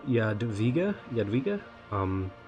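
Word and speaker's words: Jadwiga: we're playing uh y Yad via Yad via um I think W is pronounced a v in Polish we're going to play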